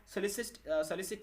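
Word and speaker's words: solicit: क्या इसका सलिसिट इसका प्रोनाउंसिएशन होगा, ठीक है, ध्यान रखिए।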